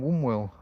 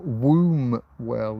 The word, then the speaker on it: Wombwell: She's from Wwell or Wombwell if you want to sound it out the way it's spelled, but we don't say it that way. We just say wwell w.